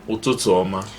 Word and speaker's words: ụtụtụ ọma: You say ụtụtụ ọma.